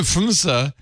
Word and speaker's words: PHMSA: PHMSA. And he knows how to pronounce things, so we know that's the right way. According to PHMSA, from March 2018 through March 2023, 5 years,